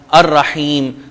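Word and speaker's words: الرحيم: ہے یا سائلنٹ ہے، جیسے ہم کہتے ہیں الرحمن، الرحیم، تو رے حروف شمسیہ میں لام اس کا سائلنٹ ہے۔ ہم آگے بڑھتے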